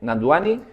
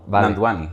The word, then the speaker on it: Nandwani: Nanduani. Efectivamente, en la W como una U. Nanduani. Nanduani.